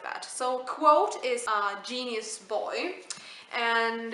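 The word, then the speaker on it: Kvothe: man guy boy named quote uh I read somewhere that it was pronounced like quote so I will pronounce his name like that so quote is a genius boy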